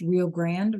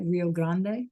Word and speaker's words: Rio Grande: That's how they say it in English. Rio Grand, right? Rio Grande.